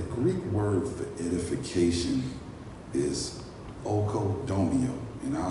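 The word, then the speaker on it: οἰκοδομέω: Well, the Greek word for edification is oikodomeo, and I'll spell it for you.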